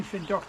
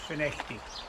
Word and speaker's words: Findochty: point uh for those not to know FTI is spelled f but um saying fuct is not incorrect but it'll show you to be perhaps an outsider so it's pronounced finity um Bucky Harbor is a a very significant